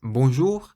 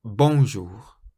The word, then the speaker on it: bonjour: French words is that you always stress the very last syllable of the word in French so you say bon bon rather than bonjour the J in French is quite soft and the letter r